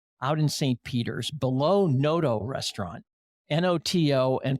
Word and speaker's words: Noto: Peter's, below Noto Restaurant, Noto, and pronounced Noto.